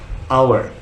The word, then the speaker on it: hour: For example, hour. You know 1 hour, 60 minutes. Hour, H-O-U-R. But still we say an hour because the H is silent.